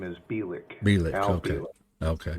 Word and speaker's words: Bielek: Yeah, so the way you pronounce his name is Bielek.